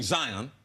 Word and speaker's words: Zion: He said his name is really Zion.